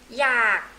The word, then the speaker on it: อยาก: is verb to want อยาก in Thai language อยาก R sound low tone you have K in your throat อยาก you don't really